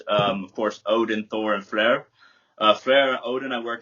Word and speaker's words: Frey: So Frey, I call him Fleur, which is more Danish and Swedish pronunciation.